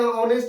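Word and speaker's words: honest: अगर sound system होना या ऑनेस्ट में मतलब होश ऐसा हो रहा है साइलेंट हो रहा है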